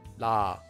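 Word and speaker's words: ㄹ: the sound would become la. La. La. And one more time. La. Notice that it's not la, and it's definitely not raw.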